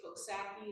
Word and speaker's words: Coxsackie: You know, it's actually, I think you say Coxsackie is how it's pronounced, it's upstate New York.